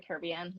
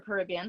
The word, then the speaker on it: Caribbean: it, but is Pirates of the Caribbean or Caribbean, however you want to say it.